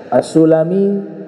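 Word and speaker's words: السلمي: kalangan para para santri assulami nama suku Bani sulaim assalimi suku bernama Banu Salamah asalami enggak ada hubungan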